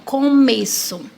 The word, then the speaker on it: começo: Por exemplo, começo. Começo se escreve com C, mas tem a pronúncia de K. O C cedilha, ele tem som de S. E o O de começo tem som de U.